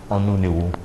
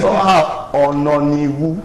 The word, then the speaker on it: Ononiwu: of course Barrister Onuniwu. I will find you if you do not pronounce my name properly. I got it this time. You didn't get it. Ononiwu. Ononiwu. Yeah, okay, noted.